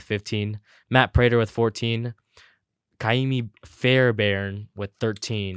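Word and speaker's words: Ka'imi Fairbairn: Kaimi Fairbairn with 13.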